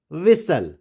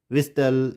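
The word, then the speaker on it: whistle: And this is विसल, and this is पैसल, नॉट पिस्टल, विस्टल। इस तरह से हम प्रोनाउंस नहीं करेंगे, इसको हम पढ़ेंगे कैसल, हसल, विसल, इस तरह से हम इसको प्रोनाउंस करेंगे।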